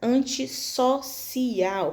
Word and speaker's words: antissocial: Novamente para poder ler, pronunciar essa palavra corretamente, com, né, a fonética correta antissocial. Para ter esse som de S, eu vou precisar dobrar o S, tá?